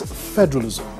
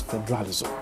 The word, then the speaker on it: federalism: to watch out for the word is federalism and not federalism federalism you stress the first syllable the other one is